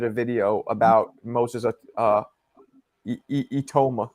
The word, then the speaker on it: Itauma: So, I just did a video about Moses uh Etoma. It's how you pronounce it. Etoma.